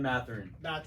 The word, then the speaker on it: Mathurin: Ben Mathurin.